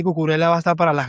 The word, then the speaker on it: Cucurella: cosa, no se dice cucuré, no se dice cucurela, se dice cucurella, se pronuncia la doble L.